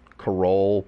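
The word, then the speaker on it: Carole: that her her name the way that she spells carol it rhymes with parole karol parole carol bat carl baskin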